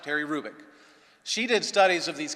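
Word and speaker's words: Hrubec: e c terry krubik the h is not pronounced terry rubick she did studies of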